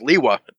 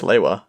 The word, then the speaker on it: Lewa: Hey, fun fact, actually, they did rename Liwa. Same spelling, but it's pronounced differently now. Yeah, it's pronounced Liwa. Yeah, originally he was Lewa, and now it's Liwa.